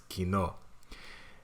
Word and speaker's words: Kino: used to pronounce it Kino but I've been corrected so it's Kino yeah so today I like German it's like German Kino meaning movie theater yeah Cinema or cinema